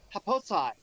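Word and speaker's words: Happosai: I think it's Haposi. old man who likes to raid raid clothes lines and v people's ladies under underwear. Pronouncing it right, but haposai. Haposai.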